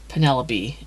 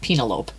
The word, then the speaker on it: Penelope: doesn't yeah I mean I I pronounced uh Penelope as penelopee for a long time CU I only read it in a book and had no idea how to say Penelope yeah okay I can